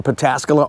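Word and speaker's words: Pataskala: you pull in to our dealership here in pascala Ohio that's how you say it we are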